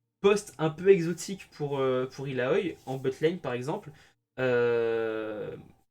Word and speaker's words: Illaoi: Euh, Autre perso que Brand qui proc très bien avec la Dark Harvest, c'est Illaoi, ou Illaoi, pour ceux qui le prononcent correctement.